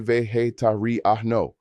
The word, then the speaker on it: vegetariano: I am vegetarian is soy vegetariano, pronounced soy vegetariano.